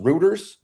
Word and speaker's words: Reuters: It's pronounced Reuters. R-E-U. I always say routers, but it might be routers. I've heard it a few different. I just say routers. Wow.